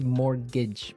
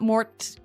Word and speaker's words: mortgage: with a t yeah it has a t in it but you don't pronounce it you say morgage morgage so not Mort mortgage not morgage morgage